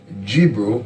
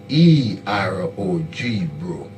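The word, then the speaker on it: Gbero: We have Joseph Gibro of the Crown ethnic group, that's G-B-E-R-O, Gibro.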